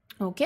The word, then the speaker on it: を: Et là, ici, on a la particule wo, donc qui se prononce en général juste o, sans le W devant.